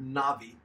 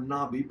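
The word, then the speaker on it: נביא: look at the word Nabi it's transliterated in a bi or Nabi but the V is often printed B is often pronounced as the V that is the term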